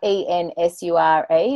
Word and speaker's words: NSURE: Ensure, like E-N-S-U-R-E, if we just Google that. It's N-S-U-R-E. Oh, so just the letter N.